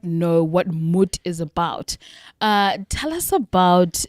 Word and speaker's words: MOT: A lot of people say MOT, and then they say MART, and they say, what does MOT stand for? So it's actually pronounced MUT because it's a Norwegian word.